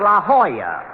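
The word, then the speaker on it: La Jolla: Rochester I found out that's pronounced La Hoya it turned out to be a Spanish word dog D I should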